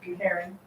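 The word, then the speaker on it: cairn: Karen. It's called Karen. But One- spelled one way syllable. different from- Okay. Karen. Okay. Karen. C-A-I-R-N.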